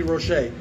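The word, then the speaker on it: Roché: Number 7187 is the great Betty Rochet. I'm told that's how it's said, Betty Rochet. I've also thought it was Betty Roche, but it sounds like it's French, Cajun perhaps, Betty Rochet.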